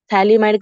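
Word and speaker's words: phthalimide: Thalamide ka P is silent.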